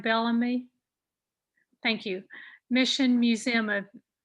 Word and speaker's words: Bellamy: The Preservation North Carolina also owns and operates Bellamy, I'm sorry. Did I pronounce that right? Bellamy?